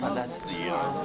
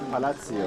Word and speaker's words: Palazzo: And the Italian way, it's pronounced Palazzo. Palazzo. Palazzo means the same as palace.